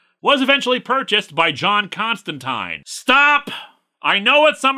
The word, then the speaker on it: Constantine: say it is pronounced Constantine they even put it in the comic itself that it's Constantine rhymes with wine and people were very